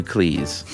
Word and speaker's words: Cleese: He noted that his name is pronounced to rhyme with cheese rather than fleece. In fact, his surname was originally Cheese, but his father changed it to Cleese.